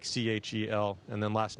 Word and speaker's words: Kjell: My first name is Kjell. It's Swedish, so it's spelled a little differently, but Kjell, like Chel, and then last name Lindgren.